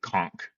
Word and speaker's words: conch: calling it conch, but it's actually conch, as I was corrected Oh, is it several times.